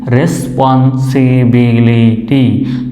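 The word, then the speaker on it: responsibility: তবে বড় যে শব্দগুলো আছে সেগুলোতে বা কয়েক লেটার 3-4 লেটারে যে শব্দগুলো আছে সেগুলোর শেষে যদি ওয়াই থাকে সেটা আমরা সাধারণত দেখি যে ওয়াইটা রস্বইকারের মতোই উচ্চারিত হয়। একইভাবে এখানে শব্দটার শেষে ওয়াই আছে, সেটা রস্বইকারের মতো উচ্চারিত হবে।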